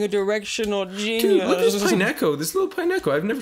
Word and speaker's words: Pineco: one of those in I like the way you say Pineo you're like Pine you split it I say pineco which is like two words you say Pine Neck Co pineco exactly that's how you say it I'm like wo